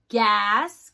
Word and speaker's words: gas: Gas. Good. That has G. Gas. Hard G.